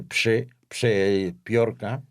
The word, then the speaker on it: Przeciorka: Es un nombre polaco un tanto difícil de pronunciar porque son 3 consonantes que se siguen, PRZ, que se dice Przeciorka.